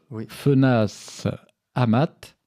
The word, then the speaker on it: Fenasse-Amat: nouvelle composition de ta part, parce que Michel Fenas Amat, c'est comme ça qu'on dit, oui, on prononce.